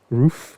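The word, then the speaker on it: Ruf: thank you for thinking that's pronounced roof okay yeah so the cool thing about this car dylan is that they actually get body and white well that's cool so they'll register them as roof yeah they get their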